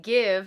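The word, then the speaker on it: GXVE: like oh and it's the give I finally know how to say it the give Beauty check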